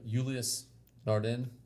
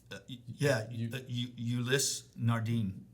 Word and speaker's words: Ulysse Nardin: Julius Nardin. Ulysse Nardin. There you go.